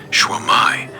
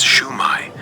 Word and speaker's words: Shwmae: You can also say "Shwmae," pronounced roughly as "Shoo-my," which is a very common and friendly way to greet someone in Wales.